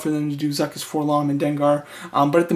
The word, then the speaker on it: 4-LOM: So he could possibly be referred to as for LOM, but I think that I've never seen anybody call him that. I believe that his name is supposed to be pronounced Forlom.